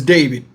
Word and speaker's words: D4vd: I don't know what kind of music you classify this music that he sings, but his name is David. It's pronounced D4vd.